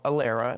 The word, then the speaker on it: ALARA: medical and dental Community we practiced something called aera and that's spelled a l a r a and it